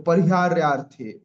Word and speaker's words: परिहार्यार्थे: उसके बाद ध्रुवम जन्म मृतस्य च, तस्माद, तस्माद परिहार्यार्थे, परिहार्य अर्थे, तो परिहार्यार्थे अ वहां साइलेंट हो जाएगा।